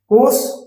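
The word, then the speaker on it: coarse: चलिए आते हैं, पहला होमोफोन देखते हैं, कोस कोस। अब देखिए दोनों सेम है, आर साइलेंट रहेगा दोनों में, ये आर साइलेंट रहेगा, ऐसे पढ़ेंगे कोस कोस कोस।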